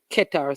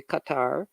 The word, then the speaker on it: Qatar: is the host nation some people say Qatar some say Qatar however you want to pronounce it is good Ecuador so you have